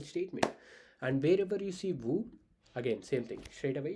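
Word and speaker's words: vous: Uh please remember to is informal, vu is formal.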